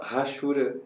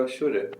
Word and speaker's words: hachura: Tem gente que fala rachura, eu prefiro Ashura. Eu pesquisei no Google, inclusive, coloquei lá no pronúncia de Ashura e disse que era Ashura e não rachura.